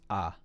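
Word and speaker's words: 아: on k beside it the circle is silent so it's just ah um and then so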